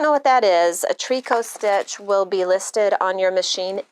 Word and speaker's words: tricot: just look it up it's spelled t r i c o t looks like tricot uh and it's like